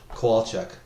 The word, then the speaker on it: Kowalchuk: It's very how you write it. So it's like if you had a koala bear and a woodchuck, Kowalchuk. I've been saying Kowalchuk the whole time, and I was like, I must be saying it wrong. Well, see, that's the thing. People always put an extra A in the middle, so they say Kowalchuk, but it's just Kowalchuk.